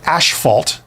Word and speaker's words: asphalt: housing and things is asphalt shingles right or ashalt depending on how you say it um I have seen